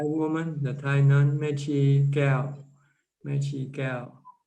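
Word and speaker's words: Kaew: The Thai woman, the Thai nun, Mechi Gao. Mechi Gao. How to spell? I think Keow. Keow. Okay. But it's pronounced Gao, Kell. But it's written Keow.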